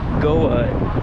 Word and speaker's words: Goa: This made me want to explore Goa, I believe is how you pronounce it, in India.